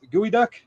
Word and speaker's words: geoduck: there's a thing called I think it's geoduck gooey duck you don't know what